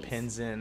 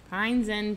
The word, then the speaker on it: Pine Zen: I always say it wrong. You always say Pinzen or something like that. Yeah. Pine Zen Pottery.